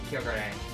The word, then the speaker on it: Kyogre: after me for mispronouncing normally i'd say but the pronunciation for this pokemon is kyogre i don't know i just read it like a ramanji let me switch